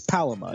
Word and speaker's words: palama: It's Palama. It's the webbing on the feet of aquatic birds. Palama.